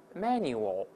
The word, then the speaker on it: manual: 不要读成 manual，后面还有个 l 的声音，就舌头尖再稍起抬，稍微抬起来点。